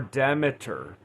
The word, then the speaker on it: Demeter: Deer or Demiter depending on how you choose to pronounce that.